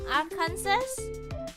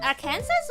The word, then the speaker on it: Arkansas: Kansas and Arkansas.